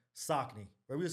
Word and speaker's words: Saucony: Saucony is Saucony? But, yeah. Yes. That's crazy. Yeah, Saucony is the correct pronunciation.